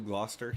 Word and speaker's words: Gloucester: Is that Gloucester? Is that how you pronounce that, Brown? Maine? New Gloucester, yeah.